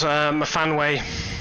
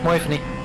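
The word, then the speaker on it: Myfanwy: That's a very anglicized way of pronouncing that. That's how you say the full name, right? Mafanway? It's a Welsh name. I thought it was Moifany. That's how she told me to pronounce it.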